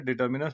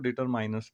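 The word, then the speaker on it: determiners: वैसे तो मैंने, कुछ लोग इसे डिटर्मिनस पढ़ते हैं, कुछ लोग डिटरमाइनस पढ़ते हैं।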